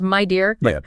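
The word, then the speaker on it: Meda: Oh, and just a practical point, the sources mentioned the pronunciation of media. It's pronounced my dear.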